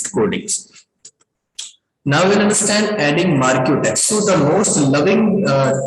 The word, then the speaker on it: marquee: Now we'll understand adding marquee text.